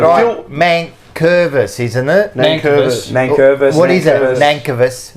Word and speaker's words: Nankervis: Nankervis. Nankervis. What is it? Nankervis. Nankervis. You kept saying that. I've never heard it's pronounced like that.